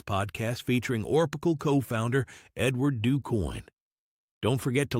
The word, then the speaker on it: DuCoin: We are fortunate today to have Edward DuCoin on the show with us. And did I pronounce the name correctly?